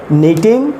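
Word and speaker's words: knit: Rishika sweater बुन रही होगी, तो ऋषिका सब्जेक्ट है, Rishika will be नीटिंग sweater. नीट, यहाँ पर जो के हैं, के लेटर साइलेंट है, तो के को प्रोनाउंस नहीं करना है, नीट होता है।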